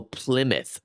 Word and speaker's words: Plymouth: No, the I is pronounced how it is in hit. Oh, Plymouth.